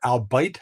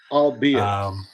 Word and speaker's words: albeit: Jersey be it or albite I don't know how you pronounce it is it albite or albeit albeit albeit thank you albeit very cold today